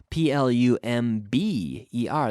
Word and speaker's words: plumber: plumber Fontana no plumber PLU MB er that's a silent B plumber plumber not plumber' no plumber plumber silent be like the word thumb they dope who got